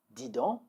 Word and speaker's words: dis donc: Let's work on the pronunciation now. Dis donc, dis donc, or dis donc, dis donc.